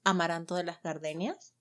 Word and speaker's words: Amaranto de las Gardenias: So, my character, her full name is Amaranto de las Gardenias. Yes, you all have to practice that. Mhm. I want the perfect Spanish pronunciation from all of you.